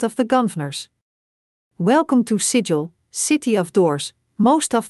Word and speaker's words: Sigil: in Ian remember burfoot it's pronounced like sigle rhymes with Giggle and W be the Burke who mistakenly mispronounces it in front of the gers welcome to sigil city of doors most